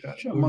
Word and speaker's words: شمع: جاؤں، آپ کہوں کہ شمع کے تلفظ میں خیال رکھیے گا، میم ساکن ہے، میم پر زبر نہیں. شین زبر ہے، میم ساکن، میم عین دونوں ساتھ ہیں اس کے. دونوں ساکن ہے.